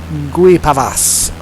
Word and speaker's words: Guipavas: Guipavas, apparently, is how you pronounce it.